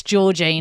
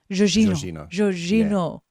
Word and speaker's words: Jorginho: to me, it's Jorginho. No. But if I do it by how the YouTube told me to do it, it's, oh God, I can't even remember. Jorginho. Jorginho.